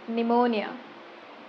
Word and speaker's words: pneumonia: Words that have silent letter P.